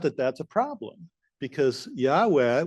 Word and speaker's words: Yahweh: However, it turns out that that's a problem because Yahweh, which is the way they pronounce the ancient Israelites pronounced the name of their God in modern Jewish tradition, that's taboo.